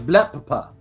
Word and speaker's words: Blepp: It's got two P. So, it's Blepp. The second P is silent.